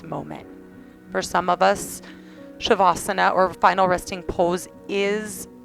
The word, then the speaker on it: savasana: here for you so shavasana Sanskrit for final resting pose is actually spelled SAV so a lot of humans read it and they say savasana so just so you know it is pronounced shavasana Sh just a little